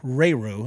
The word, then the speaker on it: Rayroux: And a little bit about Jamie Rayroux. I just found out I want to say that the X is silent.